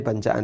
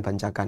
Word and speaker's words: bancaan: ee mau tanya bagaimana caranya untuk menolak anjuran ya ikut sedekah atau bancaan bacaan apa bancaan bacanya bancaan bukan bancakan ya oh iya atau